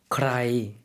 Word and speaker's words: ใคร: 누구라는 의문사 어떻게 발음하죠? ใคร ใคร cry라고 하면 의문사로 누구, 누가 이런 의미가 되겠습니다.